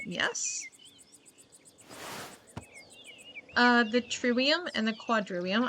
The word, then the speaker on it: quadrivium: The trivium and the quadrivium, I guess if it's medieval Latin you pronounce the V's.